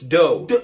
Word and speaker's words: dough: Well, then this must be do? No, come on, that's like the first one. It's dough. Dough.